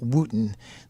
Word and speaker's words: Wooden: Wooten. His name is pronounced Wooten, but it's actually spelled like it looks like wooden, W-O-O-D-E-N.